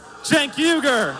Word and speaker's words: Cenk Uygur: and founder and host of The Young Turks Jen yuger so that's how you say his name put